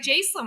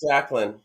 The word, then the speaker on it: Jacqueline: the way it's spelled, it looks like Jacelyn. I can't believe I missed out on that. So yeah, so I apologize for that. But that's awesome about Oh, the Stacy's right. It's Jacqueline.